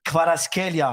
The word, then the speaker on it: Kvaratskhelia: Say again? Kvaratskhelia. That is a brilliant pronunciation.